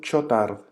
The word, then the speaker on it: Chautard: El libro se llama El alma de todo apostolado, de Don Chotard, Juan Bautista Chotard. Se escribe Chautard.